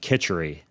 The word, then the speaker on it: khichdi: That's how you pronounce it, khichdi. Khichdi, okay.